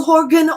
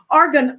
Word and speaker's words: argan: normally beat me up like it's not that how you pronounce it it's the Horgan oil so what I don't set ARR I don't know which one I'm leaving off but it's a rgm argan oil okay yeah the a